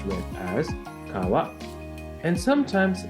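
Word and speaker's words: 川: Japanese reading or kunyami river is pronounced as Kawa in man yoga this kanji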